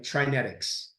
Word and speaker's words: TriNetX: But anyway, you can say it like genetics, right? TriNetX is how I say it.